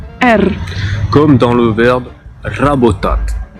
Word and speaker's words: Р: Donc vous avez entendu un R roulé un peu à l'espagnol. Petite particularité, il s'écrit comme notre P. Donc ça fait partie de ces lettres comme ça qui ont la même graphie que nous, mais pas la même sonorité.